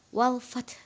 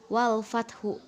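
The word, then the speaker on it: وَالْفَتْحُ: gitu ya yang kedua pada walfat Jadi huruf terakhirnya itu dibaca lemah jadi walfat bukan walfathu bukan ya pada ayat kedua waroa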